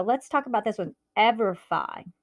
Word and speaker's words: EverFi: But so let's talk about this one, EverFi. Like not Semperfi, it goes Semperfi. So this is EverFi.